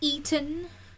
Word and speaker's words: Etten: I don't know, is it Etten? Yeah, it is Etten. Yeah. How would I have pronounced it? I don't know. Eaton?